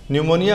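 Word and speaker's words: pneumonia: न्यूमोनिया होता है पी से, लेकिन हम चूंकि बोलने में न बोलते हैं तो हमने न से ही फॉर्मूला बनाया है।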